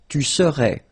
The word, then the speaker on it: serais: Tu serais. Phonetically, it is the same.